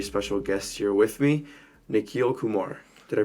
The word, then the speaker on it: Nikhil Kumar: have a very special guest here with me nikil Kumar did I pronounce that right yep perf I forgot to